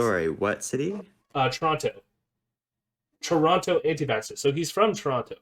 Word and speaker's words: Toronto: do a newscaster voice there are no two t's there toronto's infamously intense anti-lockdown